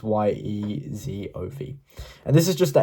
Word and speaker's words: Yezhov: And Yezhov is Yezov.